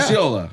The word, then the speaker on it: Lucciola: Luciola.